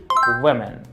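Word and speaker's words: women: این ساختارش بیقاعده است اس نمیگیره میشه و تلفظ میشه چی ومن حواستون باشه پس آقا تلفظ مختلفه ووم حواستون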